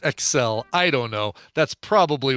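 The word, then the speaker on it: XEL: so not s-e-x s-e-l don't get excited it's pronounced Excel I don't know that's probably what's going on as it's pronounced Excel so it takes radio exactly one 90s average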